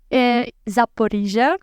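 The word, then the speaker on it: Zaporizhzhia: In Zaporozhye. Am I pronouncing that right? Yeah, correct. Zaporizhia.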